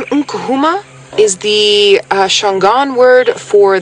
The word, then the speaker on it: Nkuhuma: If you just say Nkuhuma without the n sound at the beginning, it means to enter a doorway or to enter.